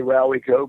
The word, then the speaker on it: Rowyco: Well, different people say it different ways, but I just say Rowico. But Rowico? Okay. Rowico, Rowyco, and of course, you